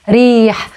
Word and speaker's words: ريح: Again, the H at the end is the guttural H, not ريح, not ريح, it's ريح.